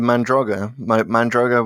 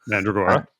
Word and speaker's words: Mandragora: There's one mentioned in Mask of Mandroga, whatever the hell that one's called. Mandragora. Mandragora, thank you. Unless you're Tom Baker.